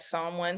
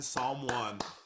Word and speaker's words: Psalm One: can find me at someone Psalm is spelled with a p p-s-a-l-m-o-n-e on X on